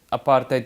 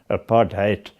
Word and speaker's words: apartheid: The policy of separate development, which the media mischievously branded apartheid with the accent on the HAT, hate, That was a policy